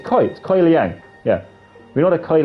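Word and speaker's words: Kuai Liang: Because we know that Scorpion, Kuei Liang, is that how we pronounce his name? Kuei Liang? Kai Liang? He's Kai. It's Kuei Liang.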